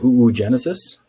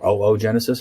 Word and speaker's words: oogenesis: the menstrual cycle occurs in the uterus okay ooh genesis or oogenesis however you want to pronounce it i've heard it pronounced both ways